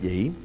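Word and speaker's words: יהי: Se pronuncia ahí, yehi, o yehi sería ahí, ¿verdad?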